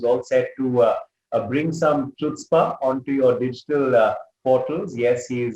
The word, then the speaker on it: Chutzpah: It's a very sorry to correct you, but the pronunciation of the same show is Chutzpah, C silent. Acha, Chutzpah. Okay. C is silent, so it's Chutzpah.